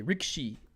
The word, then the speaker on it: Rikishi: I feel like I'm appropriating Asian culture when I say Rikishi. That's how it's pronounced.